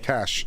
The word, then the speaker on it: cache: Cash.